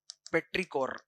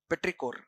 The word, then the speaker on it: petrichor: So, this smell is popularly called as petrichor. French word. Petra is rock. Petrichor.